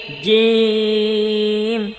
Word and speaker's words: جيم: جيم এটা কিন্তু জিম না, জিম নট জি। জি জিব্বার মধ্যখান ওপরে লাগিয়ে জিম জিম জিম جيم جيم جيم জিম জিম জিম।